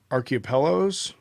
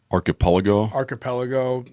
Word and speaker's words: archipelago: the uh gulag uh archaeapellos that's not though i didn't pronounce it right archipelago like islands yeah it's well it's